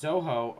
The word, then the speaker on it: Zoho: Office uses, I guess it's pronounced Zoho um, Office.